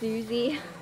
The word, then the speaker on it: Uzi: Okay, it's pronounced Uzi.